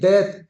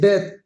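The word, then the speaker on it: death: रेड नफरत life जिंदगी डेथ डी ई ए टी एच डेथ डीथ नहीं पढ़ना डेथ मौत लाफ्टरन हंसी जॉय खुशी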